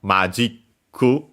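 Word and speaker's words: マジック: likely actually comes from Magiku, as mentions also Mario Wiki. Magic from English. Notice though that the accent is on the G in Japanese, so be careful.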